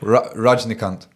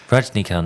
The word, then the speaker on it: Rajnikant: Rajnikant. Not not what you think. Do you put a T on the end of that? Yeah. Rajnikant.